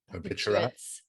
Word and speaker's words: barbiturates: Barbiturates. The R is silent.